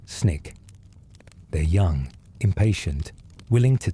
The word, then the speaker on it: SNCC: The students organized themselves into the student non-violent coordinating committee, SNCC, pronounced SNIK.